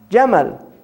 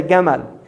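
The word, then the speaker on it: جمل: Jamal, right? Camel is from Jamal, because the Egyptians say Gamal. They pronounce the jim Gamal. So when the Europeans first heard it, they heard Gamal, camel, right?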